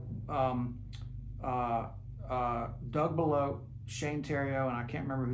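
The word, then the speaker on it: Shane Theriot: But anyway, so Shane Tero and it's spelled the riot. So, it's Shane um s h a ne and then t h e r o r i o t uh the riot Shane Tero is how you spell it. It's it's French Canadian.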